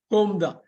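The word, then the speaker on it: comb: claim ஏறுதல் மறை இது சீப்பு தலை சீவுற சீப்பு கோம்தான் கோம்தான் கோம்புன்னு வந்துராது கோ இல்லன்னு இது பண்ணனும் அப்புறம் சீப்பு எழுதிக்கோங்க அடுத்தது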